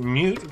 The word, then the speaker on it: mut: better probably pronounced right it's a mute because it's short for mutable just like it's e